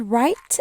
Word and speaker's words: write: word we have is write and write this w here is silent nobody says all right so this is right without the W or a silent W but they make the